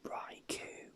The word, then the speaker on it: Raikou: Raikou. It's actually pronounced Raikou, but I used to pronounce it Raikou because I thought that's because K-O-U, I just pronounced it Ku, so Raikou, but apparently it's Ko.